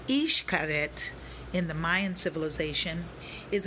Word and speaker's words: Xcaret: you can see behind me very relaxing excaret pronounced ich karet in the mayan civilization is an archaeological site